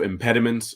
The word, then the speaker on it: impediments: So it's imped. Is that the 4 syllables? Impediments. It's the last one is the weak vowel.